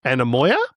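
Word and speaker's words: Anemoia: I mean, the whole album is excellent, but, and I apologize for the pronunciation, but I'm assuming it's Anamoya? That's perfect pronunciation, yeah.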